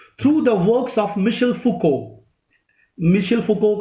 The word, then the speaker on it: Foucault: the works of Michel Foucault. Michel Foucault का मैं नाम बता चुका हूँ, MICHEL FOUCAULT. Foucault को हम लोग Foucault pronounce करते हैं.